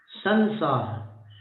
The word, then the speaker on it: संसार: अनुस्वार को म बोलते हैं, संसार न बोलते हैं ना।